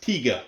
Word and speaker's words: Tiger: tiger a distraction type apparently in germany they're pronounced tiga which is even cuter distraction and the engineers